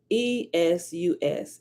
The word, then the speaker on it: Iesus: Well, Iesus or Su, I think that the last S is silent, right? But it looks like Jesus, but it's Iesus.